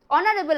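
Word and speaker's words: honourable: কারণ উচ্চারণের পার্থক্যের জন্য উচ্চারণটা দেখো এইচ এর মতন কিন্তু আসছে না অনারেবল আসছে সেজন্য এখানে আমরা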